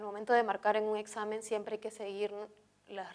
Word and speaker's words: examen: ejemplo la palabra examen si la separamos en sílabas examen sabemos que la equis entre dos vocales siempre se si la vea con la segunda y si reconocemos la sílaba tónica la sílaba tónica en este caso va a ser sa ahora cuál de las